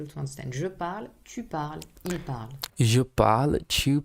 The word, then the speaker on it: parles: But yeah, tu parles, there's no S.